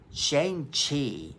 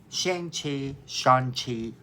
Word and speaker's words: Shang-Chi: I tend to kind of say it like it looks, which is Shang-Chi. However, I think the proper pronunciation is ShangChi, so we're just going